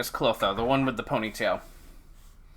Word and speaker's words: Clotho: Okay, her name is Clotho, the one with the ponytail. Or she pronounced it Clotho, because I don't think they have a th sound in the Japanese language, naturally anyway.